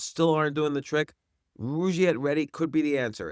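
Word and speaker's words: Rugiet: But if you're looking for something beyond the usual pill, meet Rouette Ready. And Rouette is spelled R U G, like rug and I t.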